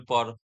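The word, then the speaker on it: pas: शायद आप पढ़ोगे सेनिपा, से नी पास, ऐसा पढ़ोगे, लेकिन नो, यहाँ पे एस साइलेंट है पास के अंदर। पास के अंदर सिर्फ आप पा ही बोल सकते हो, पा, पा, पा।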